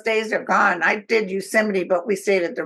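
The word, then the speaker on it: Yosemite: I did Euseite, but we stayed at the real fancy motel. Yeah. Hotel. I'm not I'm not sure you're pronouncing that right. I think it's yoseite. Oh, is it?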